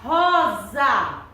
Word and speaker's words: rosa: Quando pronunciamos a palavra rosa, ela tem som de quê? Quando pronunciamos? Z. Mas a sua escrita na língua portuguesa é com S. Muito bem. Rosa é uma palavra, Nina, que tem som de Z, mas a sua